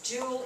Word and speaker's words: joule: And its joule is spelled like that to honor somebody. It's not jewel like jewelry.